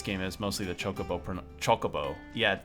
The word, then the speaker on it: Chocobo: Chocobo. Yeah, it's pronounced chocobo, not chocobo.